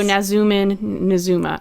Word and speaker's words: Nazumah: He does say it in his quote, so we have actual pronunciations. So Nazumah.